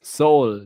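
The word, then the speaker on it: Seoul: Yeah, it says soul. That's how you pronounce the city.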